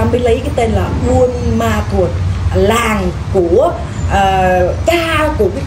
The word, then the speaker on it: Buôn Ma Thuột: người hỏi chị ơi mình gọi là Buôn Ma Thuột hay là ban mê thuột tùy theo tùy theo